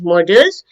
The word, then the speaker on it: Modals: Now, models, there are two spellings, two different pronunciation also of this word. Modles. No, as it is written, Modals. This is pronounced as models.